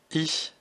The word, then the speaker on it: ich: nous intéresser à i alors pour le prononcer il faut faire un grand sourire et faire che comme en français alors écoutez bien i